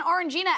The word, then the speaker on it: Orangina: All right, and at number 2 today, an Orangina ad that is blowing up the internet. Oh, that's how you pronounce it.